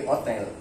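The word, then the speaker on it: hôtel: dalam bahasa Indonesia bahkan bahasa Prancis huruf H itu hilang ya di Prancis saja Hotel jadi Otel huruf H hilang di sini juga sama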